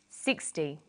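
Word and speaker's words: sixty: Usually the first syllable in a number is stressed. 16, 60. Notice that it's the final N in teen that you have to be careful with.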